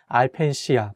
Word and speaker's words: 알펜시아: ski resorts is called 알펜시아 (alpensia). The correct way to say is 알 (al) 펜 (pen) 시아 (sia), “Alpensia”.